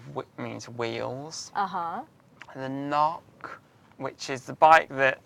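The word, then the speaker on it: Cnoc: spell see NOC but it's pronounced not like knocking on a door haha is small mound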